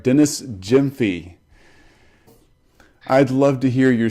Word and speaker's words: Gyamfi: good to talk to you so tell me pronounce your last name for me so I get this right Jim fiy great awesome I want to make sure I say it right Dennis Jim fee I'd love to hear your story but let